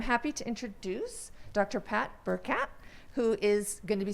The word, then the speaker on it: Burchat: So it's like a little burr and a cat, okay, so Burchat.